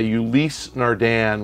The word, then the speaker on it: Ulysse Nardin: It's a Ulysse Nardin, which is a nice watch, like spelled like Ulysses with no S at the end.